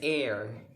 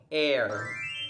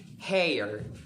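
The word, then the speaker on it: heir: amount or level of something next word is air air it is spelled as h e i and r or mispronounced by any other else as hair hair but it's not a person who has the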